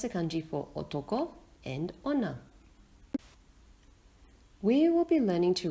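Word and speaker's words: 女: which country is for male the female country pronounced honor looks like a woman with her legs crossed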